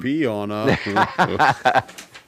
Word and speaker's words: Piana: It's like it's spelt how it sounds. And Piana. And to be completely honest, like I said, it's one of the most mild takes I could have taken.